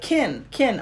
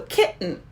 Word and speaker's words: kitten: have to do because sometimes i hear people say like kin kin i'm like no no you can't squish the word into one syllable into one beat you have to keep it as two so kitten yes and